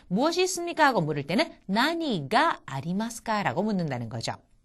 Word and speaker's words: 何: 나니가 아리마스까? 나니가 아리마스까? 여기서의 무엇이라고 하는 것을 낭이라고 하지 않고 나니라고 읽었습니다.